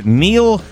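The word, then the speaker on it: Neel: I would think you would know how to say Neil. Well, it's Neil, just an odd spelling. N-E-E-L is Sure.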